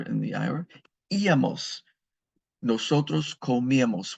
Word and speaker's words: comíamos: Nosotros comíamos. We used to eat, and there's an accent on the I.